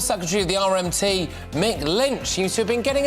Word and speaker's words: Lynch: It is a shame for old Mick Lynch that his name rhymes with Grinch.